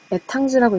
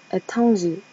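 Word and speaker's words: Étranger: 근데 프랑스어로는 에탕지라고 읽는데요. R이 발음이 안 나니까 에탕지, 이방인.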